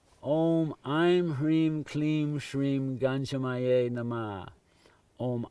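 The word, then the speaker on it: ह्रीं: Hreem, roll your R like Spanish, Hreem, that is the essential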